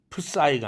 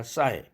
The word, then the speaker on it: psyche: psychology, psyche 할 때 프사이가 아니라 싸이, 프는 소리 내지 않습니다.